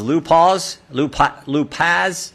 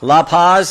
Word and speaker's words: La Paz: are and I want to make sure I pronounce these lupas like to say that County right La Paz okay County Sheriff that's that's what a Buckeye